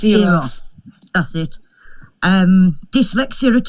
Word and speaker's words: Eros: I can't pronounce the girl's name. Eros. It's Eros.